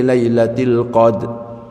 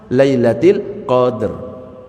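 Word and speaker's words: القدر: Termasuk ketika membaca al-qadar. Inna anzalnahu fi lailatil qadr. Loh, rnya ke mana? Lailatil qadr. Ada itu jangan dihilangkan.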